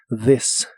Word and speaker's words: this: significar este o esta la th de esta palabra se pronuncia como una d vibrante this this y usaremos las